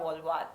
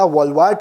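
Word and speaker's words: Wolvaardt: The playing 11 will be Laura Wavd Ward Wulvad. I hope that's how you pronounce it. It's Laura Walwat. Laura Walwat.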